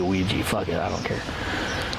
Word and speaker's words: Ouija: I pronounce Ouija, so I'm going to say Ouija, even though it's spelled Ouija. I say Ouija.